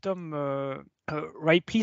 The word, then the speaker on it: Tom Ripley: Il y en a Tom Ripley, c'est comme ça qu'on prononce en anglais, qui est voilà, qui a